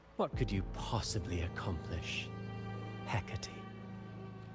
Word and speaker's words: Hecate: Hecate. Hecate. So that's how you say it. I was thinking of Hakate or Hecate.